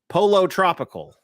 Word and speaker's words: Pollo Tropical: is is mad at my uh uh my pronunciation there uh let me let me try to get Pollo Tropical so there we go there we go thank